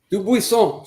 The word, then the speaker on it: Dubuisson: Dubuisson. She's got the French pronunciation on there.